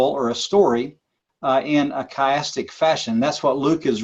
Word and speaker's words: chiastic: kind of structure called chiastic structure and it's spelled CH IA stic chiastic and it comes from the Greek letter ki CH I or Chi sometimes it said and is actually in